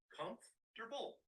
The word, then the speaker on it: comfortable: Remember to combine the F. So, it's com and then forget the portable. Just say durable. comfortable.